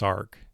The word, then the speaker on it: Src: name is spelled src it's always pronounced sarc in my experience because it's short for sarcoma that that oncogene that's